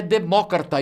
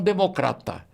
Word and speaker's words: democrata: demócrata é tá estranhando a pronúncia correta é demócrata e não Democrata porque a palavra é de origem grega como a pronúncia correta